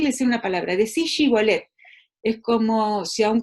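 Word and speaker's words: shibboleth: decían, bueno, perdón, efraimitas, decí Shibolet, y si decían Sibolet, eso lo explica clarito, los versículos 5 y 6, fíjense, si decían Sibolet porque no podían pronunciarlo, dicen desde la otra lengua, lo pronunciaban diferente, diríamos nosotros desde un análisis lingüístico, ¿no?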